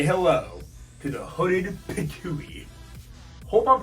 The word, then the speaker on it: Pitohui: Before continuing, the card says it's pronounced Pitohui, so I was close.